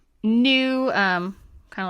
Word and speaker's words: nu: frequency is new so nu is another greek letter it's just pronounced new um kind of like